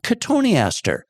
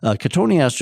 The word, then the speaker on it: Cotoneaster: Cotoneaster is the one that, if a person were to look at how do you spell it, it would sure look like it should be cotton Easter.